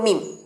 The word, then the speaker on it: meme: এর পরের শব্দটাও খুব কমন, খুব পরিচিত এই বর্তমান যুগে, সেটা হচ্ছে মিম। মিম, MEME, এটা অনেকেই তোমরা মিমি, মেমে এরকম ভুলভাল উচ্চারণ করে থাকো, আমি শুনতে পাই।